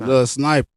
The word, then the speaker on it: Sniper: It Lil Sniper. Lil Sniper, like I said, Like ER.